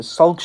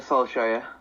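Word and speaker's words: Solskjær: But Ole Gunnar, I can't pronounce it. Solskjaer. Can we say it for you? Yeah, say it. Ole Gunnar Solskjaer.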